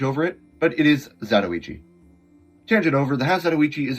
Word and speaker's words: Zatoichi: And yes, it's pronounced Zatoichi. I'm of Northern European descent living in the States, so of course my pronunciation isn't perfect, but I hear a lot of people call this Zatoichi.